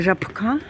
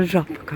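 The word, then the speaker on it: Żabka: Не жабка, а жабка.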